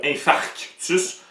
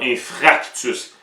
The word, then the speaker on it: infarctus: souvent mal prononcé c'est le mot infarctus tu vas souvent entendre infractus et aussi on a